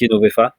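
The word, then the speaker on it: Jenovefa: Donc, ça se prononce Yenovefa et ça raccourcit en Yen.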